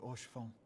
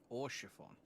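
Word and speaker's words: Haurchefant: And thank you for your kind words, Lord Orchiffon. Orchiffon? That makes sense that you wouldn't pronounce the H 'Tis so harshly.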